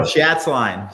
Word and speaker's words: Schatzline: Oh, Chhatsline. Chats. Chats line.